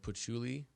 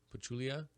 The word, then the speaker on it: Pachulia: we talked about earlier um we do have Patchouli pachulia I always forget you say his name Zaza